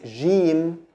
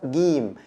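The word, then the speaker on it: جيم: This is the standard pronunciation, but in the Egyptian dialect it's pronounced gim, like the G in English, but the standard pronunciation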